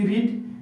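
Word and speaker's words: read: তাহলে পড়ার ইংরেজি কি রিড আর পড়েছিলামটা কি হবে ভার্বের দম তখন এর উচ্চারণটাকে আমি কি বলব রেড লিখব রিড কিন্তু বলব কি রেড আই রেড English I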